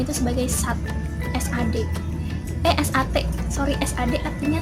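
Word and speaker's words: साथ: Kalian harus bisa bedain ya antara sat sama sat yang pakai H. Jadi kalau S-A-A-T bacanya sat, artinya 6. Kalau S-A-A-T-H belakangnya ada hanya dan bacanya kayak ada sat gitu, itu artinya bersama-sama.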